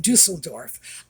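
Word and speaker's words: Düsseldorf: Dusseldorf, by the way, a lot of people are pronouncing that Dusseldorf. No, it's Dusseldorf. If you want the pronunciation, go online and get the pronunciation from a German speaker. It's Dusseldorf.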